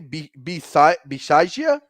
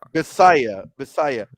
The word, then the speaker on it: Bisaccia: head coach Rick B how do you say Bisaccia? I think it's Basalia. So Bisaya.